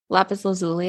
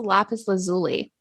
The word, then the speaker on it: lapis lazuli: to do with um lapis lazuli at all no okay and I have I have information for you it's not pronounced the lapis lazuli really it's lapis lazuli okay that bothers me